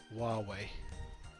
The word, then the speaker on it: Huawei: And just so you know, Ace, the way you pronounce that word is Huawei. Indeed. Huawei. Which makes absolutely no sense, but that's how they do it.